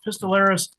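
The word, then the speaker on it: pistillaris: Is that like pistol on a the flower anatomy like that? Very delusaris. Yeah. Yeah. Spelled like the pistol on a on a plant.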